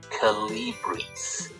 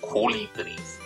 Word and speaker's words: Kolibri: in the community, the Calibris. That's not how you pronounce them. In German, obviously, in German you call them Kolibris. Again, three syllables, as with Papagei.